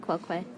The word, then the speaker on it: quoque: Oh, that's a long O with Quoque.